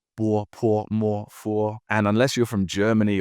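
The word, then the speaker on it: bopomofo: The O in bopomorpho is actually a UO. It's not bopomorpho, it's bopomorpho.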